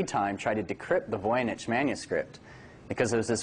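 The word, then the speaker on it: Voynich: voich manuscript and the voich manuscript and that's pronounced voyich has been the subject of intense interest by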